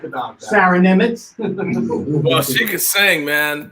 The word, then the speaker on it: Niemietz: Her name is Sarah Nimitz. It's spelled Niemietz. Sarah Nimitz.